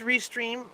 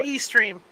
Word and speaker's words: Restream: I don't think I've never used Restream, but it seems to work almost the same way StreamYard does.